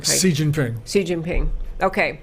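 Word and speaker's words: Xi Jinping: say his name as clearly as you say Xin Jie ping si Jin ping si Jin ping okay that guy so we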